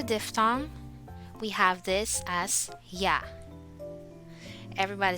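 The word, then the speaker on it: ㅑ: we have this as yeah everybody say yeah yeah with your mouth open it is pronounced like yeah in the english word yard and then this one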